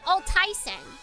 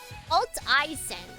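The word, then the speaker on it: Alteisen: Your name is pronounced Alt Ien. Alt I not Altaisen. Alt E isen.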